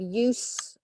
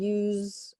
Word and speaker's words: use: often more than one notice the pronunciations different we have use as the noun and use as the verb and again full often